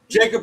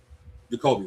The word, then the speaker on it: Jacoby: Jacob Brissett, Gardner Mitchell, or Carson Wentz for the starting role for Arizona? Jacoby, my bad.